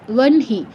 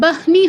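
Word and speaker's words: বহ্নি: হটা নিয়ে যেতে হচ্ছে, বনহি। এখানে কিন্তু বাহনি হচ্ছে না, বনহি, ঠিক আছে।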